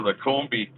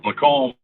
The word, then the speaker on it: Lacombe: So it must be somewhere really close to here, right near Lacombe, as I call it. But it's actually pronounced Lacombe.